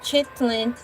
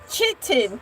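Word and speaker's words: chitin: microscopic alternating layers of chitlin and air. And once again, no bumblebees are not made of chitlins. I said chitten spelled c h i t i n.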